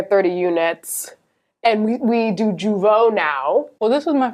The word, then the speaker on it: Jeuveau: And we do Jeuveau now. Well, this was my first time doing, is that how you say it? Jeuveau. Yeah.